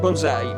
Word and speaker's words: bonsai: by the Japanese name bonsai. Bonsai came from the Japanese pronunciation of two Chinese characters, penzai.